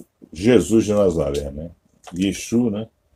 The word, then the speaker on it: Yeshu: Yeshu, né? Nós não falamos de Yeshua porque Yeshu é como se fala no aramaico da Galileia, né?